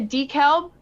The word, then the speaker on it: DeKalb: Yep, a DeKalb. I could be pronouncing that wrong. Yeah. DeKalb, yeah.